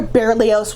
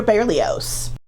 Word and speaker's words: Berlioz: Hector berlios foreign we're not sure how he pronounced it most people today pronounce it with the voice Z at the end of it but it used to be confused and oppressed by with his friend violinist Charles de Barrio whose final T is silent another line of evidence